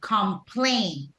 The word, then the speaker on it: complain: complain complain byon Rees where's the stress syllable on complain first or second second Silo correct it goes on the second syllable complain right thank you very